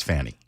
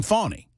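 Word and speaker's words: Fani: fabulous at his job and Ken is saying fonny and so that's going to cause me to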